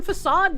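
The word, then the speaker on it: façade: Without the little dingle dangle, I could definitely see some people pronouncing this as fade cuz like the dingle dangle tells you that it has a different pronunciation and that's usually how I recognize it.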